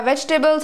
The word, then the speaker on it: vegetables: Whenever my mother goes out to buy vegetables or something, first of all, it's not vegetables. It's vegetables. Doubles. It's not tables. It's doubles. Vegetables. Vegetables. Vegetables.